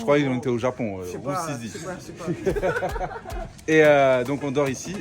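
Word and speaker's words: Rusizi: Roussisi. Ah. Voilà. On m'a corrigé. Roussisi. On est dans la ville de Roussisi. Moi j'ai dit Risuzu. Je croyais qu'on était au Japon. Roussisi.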